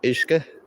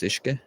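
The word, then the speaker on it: uisce: that play on the Irish word for water, which is Ishke, which is spelled U-I-S-C-E. That's Ishke.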